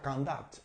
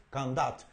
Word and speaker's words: conduct: sustantivo esa misma palabra cuando la utilizamos como verbo se pronuncia candat Okay candat y la fuerza de la pronunciación o el estrés que hay en la segunda sílaba Okay cond okay Y